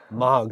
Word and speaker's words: Moog: sound and then these uh how do you pronounce is this m MOG yeah cliff MOG um the old he was